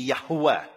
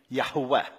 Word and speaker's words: Yahweh: So if you want to do it correctly, and let's remember this is a scholarly reconstruction, it would be Yahweh, Yahweh.